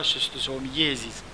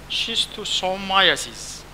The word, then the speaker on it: schistosomiasis: عشان كده دايما بيستخدموه ناس مكافحة البلهارسيا such as schistosomiasis برضو اذكرهم انه الزلم انه ما بينطقوها شيستوسومييزيز، شيستوسومايسيز. ده النطق الحقيقي في عالم الباراسيتولوجي وابحاث الباراسيتولوجي.